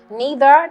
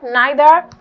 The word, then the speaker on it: neither: it is a conjunction it is neither you can pronounce it as either and that would be great as well yeah it's called it occurs a free variation dragon alright I guess divorce divorce neither neither however you pronounce it is fine either way is fine either way is fine